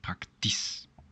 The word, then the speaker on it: praktisch: And don't forget not to pronounce the CH there, it's just praktisch.